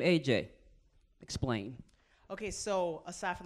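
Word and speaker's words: Ajay: So I spell it like A-J-A-Y because it's unconquerable, as opposed to just like the letters of my name, which is my initials.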